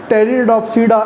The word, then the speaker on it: Pteridopsida: P silent रहेगा वही, टेरोप्सिडा. Clear? साइलोप्सिडा, Lycopsida, स्फिनोप्सिडा एंड टेरोप्सिडा. साइलोप्सिडा, Lycopsida, स्फिनोप्सिडा एंड टेरिडोप्सिडा is the 4 classes of pteridophyte plants.